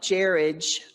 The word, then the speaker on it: Jared: With a name like Jared, it rhymes with marriage.